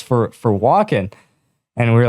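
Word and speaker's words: Wacken: like another video but we played the uh walk-in metal festival oh yeah yeah we were talking about this yeah so in Germany it's mentioned it's talked about like it's pronounced Vulcan so like Iron Maiden plays there and like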